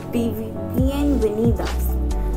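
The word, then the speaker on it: bienvenidas: तो welcome is pronounced as बीएन वेनिदास.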